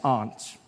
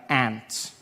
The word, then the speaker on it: aunt: For instance, I pronounce the opposites of uncle as aunt. I say my aunt. out here. You say my aunt, which to me is an insect, which made me look